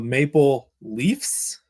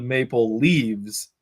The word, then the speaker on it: Maple Leafs: Is it the Maple Leafs, Leafs, Yes. or is it the Maple Leaves, No.